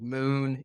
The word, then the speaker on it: MXN: that we'll focus on here today is called moon it's spelled actually MXN and incidentally we only have